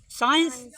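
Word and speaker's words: science: SEIENC यहाँ का पढ़वी साइंस, सी यहाँ का पढ़ ले अभी सा पढ़ ले भी ने सी यहाँ देखो SIENC यहाँ का पढ़ी साइंस।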